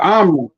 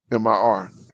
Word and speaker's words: Omri: Omri. Omri. Omri. Okay, my bad. So I'm pronouncing it wrong. I was thinking it was Omir, but Omri.